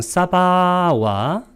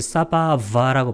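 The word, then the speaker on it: sabhāva: 하나의 내재적 본성 사바와 이 산스크리트 하는 분들이 이것을 사바바라고 발음하는데 이 V 발음은 W로 발음합니다.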